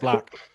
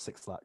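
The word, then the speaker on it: 6LACK: can i just say i know it's pronounced black but i will die before i stop calling it six o'clock six yes um my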